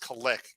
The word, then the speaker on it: Kalik: It's pronounced Kalik, guys.